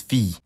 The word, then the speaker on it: fille: To start, the words for son and daughter both look like they should be pronounced fille, but neither of them is actually pronounced that way. The word for son is fils, and the word for daughter is fille.